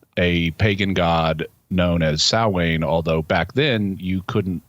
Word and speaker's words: Samhain: and so they were mispronouncing it as Sam Hayne based on the way it's spelled ah like me uh